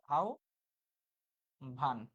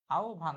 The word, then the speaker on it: আহ্বান: আ থাকা মানে কি, যেমন এই আহ্বান শব্দটা, তো হ বয়ের উচ্চারণ কি হচ্ছে, এই যে এখানে উচ্চারণ কি হচ্ছে, আউ ভান, আউ ভান।